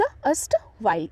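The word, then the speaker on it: erstwhile: Next one इज एस्ट वाइल, एस्ट वाइल, इट्स अस्ट वाइल, ERSTWHILA, एस्ट वाइल। देखो यहाँ पे ना ER जो है ना थोड़ा सा साइलेंट है, तो यहाँ पे अस्ट वाइल पढ़ेंगे, एस्ट वाइल, ओके, अस्ट वाइल, ERSTWHILA।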